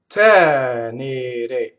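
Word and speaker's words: tenere: Tɛnere, just one flip of the R, one trill. It's not tɛnere, right?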